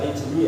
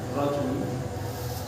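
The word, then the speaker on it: الرجل: Liqaulihi sallallahu alaihi wasallam fil rajuli ini bacanya bisa rijli ya, bisa rijli, bisa rajuli, tapi ini bacanya rajuli.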